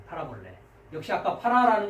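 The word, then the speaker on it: παραβολή: 자, 비유라고 적어냈는데 비유라는 단어 한번 발음해 보시겠습니까? 예, 위에 거는 이제 역격 복수로 되니까 이제 파라볼라이스고요. 원형은 파라볼레. 예, 파라볼레.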